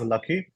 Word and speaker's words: LAKY: of our project or our language is called lucky it's spelled uh it's made using all our initiatives basically l a k y all the people have developed this language and we pronounce it as lucky uh I'll just quickly introduce our team to